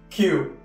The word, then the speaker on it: Que: winningest buldog and while your name is pronounced Q Q's name is spelled like the Spanish word K meaning what but what we should